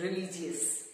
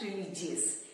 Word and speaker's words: religious: To begin with, we have the word R-E-L-I-G-I-O-U-S, which is commonly mispronounced as religious. It's not religious, it's religious. Religious.